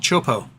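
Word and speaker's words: Teahupo'o: And Gardner started a company years ago called Chopo, spelled CHOPO, because that's what the wave is. The wave is spelled with a T, and so it does not look like it's how it actually sounds.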